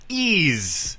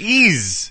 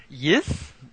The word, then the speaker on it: Ys: the you spell it's it's pronounced ease but it's spelled y-s yeah you know the first thing you come to mind when you see that you're like yes yes yes yes yes